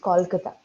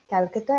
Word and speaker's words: Kolkata: one thing s uh when you pronounce the name of your city in English it becomes Kolkata okay Kolkata is actually even C have the Hindi and English versions so okay it's Kolkata okay ma'am all right